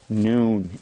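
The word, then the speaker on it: نون: noon by the way that's the name of this letter noon so we had a below and we called it ba and here at noon time we called it noon and it's pronounced n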